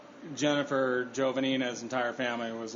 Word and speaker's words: Jovanina's: Jovanina's. Jovanina's. Damn it. It's like 2 words, Jova-Nina's. But it's not. It's all yeah, but that's how you should think of it.